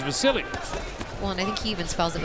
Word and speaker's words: Vasyl: some people call him the seal but it but he says and the people around say his name is Vasily well Nicky even spells